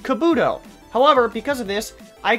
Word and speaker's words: Kabuto: Kabuto is pronounced Kabuto.